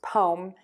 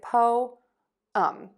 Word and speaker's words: poem: 2, poem and poet, we're only going to have 2 syllables. This does get a little confusing. A lot of my students just think this is poem and poet, because typically when we have 2 vowels together, we only say 1. But in this case, we're going to break that into 2 syllables.